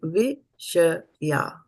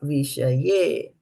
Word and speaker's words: विषया: Everybody unmute yourself and say viṣayā. Viṣayā. Yeah. So it is viṣayā and not viṣayē.